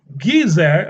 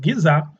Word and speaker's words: Giza: that the dimensions of the Great Pyramid of Giza, I think that's how it's pronounced, Giza, it calculated Bible chronology.